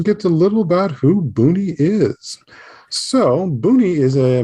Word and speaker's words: Boonie: just beforehand but uh we're generally referred to as boomi or booney and so let me just get a little about who booney is so booney is